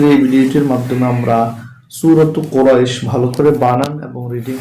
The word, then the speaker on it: قريش: যখন আমরা এখানে থেমে যাব তখন উচ্চারণটা হবে কুরাইশ।